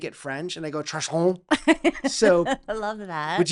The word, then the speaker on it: Truesein: I make it French and I go Treusein. So I love that. would you like to pronounce your last name so I'm There are a not lot of different chopping it up? Yeah. Treusein.